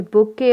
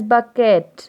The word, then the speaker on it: bouquet: bouquet ah yes a bouquet of flowers okay so we can take this don't pronounce it as bucket okay this is bouquet of flowers and then the next